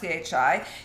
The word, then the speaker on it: qi: In Chinese medicine, mushrooms are used to build your qi and to make you stronger. Your qi, it's spelled QI but pronounced CHI.